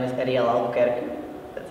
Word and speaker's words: Albuquerque: My name is Ariel Albuquerque. That's how you actually pronounce it.